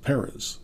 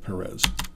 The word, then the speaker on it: Perez: I remember Tony Kubek or somebody saying, it's pronounced Perez, not Perez.